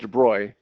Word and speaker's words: de Broglie: to around 1930 and a guy named Louie debroy a french guy who looks like it's de Broglie but it's actually pronounced debroy he suggested by symmetry physics we've seen this